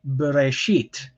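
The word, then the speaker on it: בראשית: word bereshit okay so you'll notice there are three syllables um here so what i'll do is i'll enable draw on screen and i'll show you where this look the syllables are so ba ray sheet okay so so you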